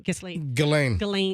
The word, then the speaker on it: Ghislaine: Ghislaine Maxwell.